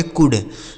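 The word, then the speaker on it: could: अब उसी का यहां पास्ट फॉर्म लिखा है सी ओ यू एल डी। इसे पढ़ेंगे कुड। कुड नहीं कुड पढ़ा। एल साइलेंट है। इसे कुड पढ़ेंगे।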